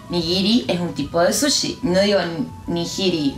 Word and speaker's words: sushi: Los japoneses no saben decir sí. Dicen shi, por ejemplo, sushi. ¡Qué ojo! Dependiendo de cuál sea tu país, puede que sushi lo pronuncies de otra manera. Ahora que estás aprendiendo japonés, vas a pronunciar sushi y no sushi o algún similar.